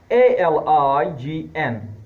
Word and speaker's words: align: Letter G is normally not pronounced if it comes before an N, letter N, like A-L-I-G-N. G is before N, so it is not pronounced. This is align.